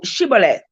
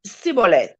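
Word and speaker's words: Shibboleth: nay then said they unto him say no Chevrolet and he said sibole for he could not frame to pronounce it right okay let's read verse 6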